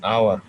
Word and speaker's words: hour: For an hour. For an hour. এখানে দাও H, দেখো hour, H এ হচ্ছে কনসোনেন্ট, কনসোনেন্টটা উচ্চারণ করা হচ্ছে না, তাই এখানে আমরা বাউল উচ্চারণ করতেছি।